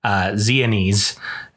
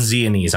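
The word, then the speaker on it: Xeones: but this book follows a character zianis i think that's how you pronounce his name um x-e-o-n-e-s if any of you are fluent ancient greek speakers or pretend ancient greek speakers as the case may be i'm gonna go with zeonese on this though um but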